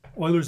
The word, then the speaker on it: Euler: Well, that concludes our screencast on Oilers's method. And please make a special note of this. It's pronounced oiler.